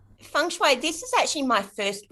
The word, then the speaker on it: feng shui: more professional um so i took on pronouncing it correctly um feng shui this is actually my